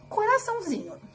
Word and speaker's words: coraçãozinho: Mas e se eu fosse falar coraçãozinho? Coraçãozinho! Xi! Não foi aonde estava o til. Foi o zi. O zi é a sílaba tônica.